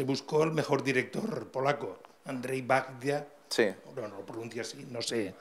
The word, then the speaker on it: Andrzej Wajda: el mejor director polaco, Andrzej Wajda. Sí. No, no lo pronuncia así, no sé. No, la pronunciación en polaco. Yo tampoco. Es Andrzej Wajda.